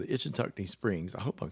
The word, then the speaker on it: Ichetucknee: Took us to a place called the Itchitucknee Springs. I hope I'm saying Itchitucknee Springs. Good grief. Let me try this one more time. Itchitucknee. I did it. I'm going to spell it.